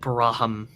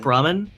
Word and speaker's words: Brahmin: Can we just take a minute to admire that Braham? Is that how you say it? Braham? I believe it's Brahmin. Brahmin? Oh yeah, it's Brahmin. Brahmin, like the cows in Fallout.